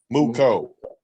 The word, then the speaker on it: Mooco: How you pronounce it? Mooco.